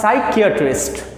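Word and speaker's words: psychiatrist: और इसी से divide साइकैटरिस्ट यहां भी पीस साइलेंट साइकैटरिस्ट ऐसे डॉक्टर सोते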